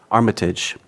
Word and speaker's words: Armitage: Is that the correct pronunciation? Armitage.